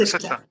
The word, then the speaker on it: Ceuta: Ceuta.